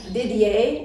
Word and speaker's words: Didier: And we also have here Cinda Didier. Is that how you pronounce it? And it's French, it's like that, right? Yeah, it is. Didier.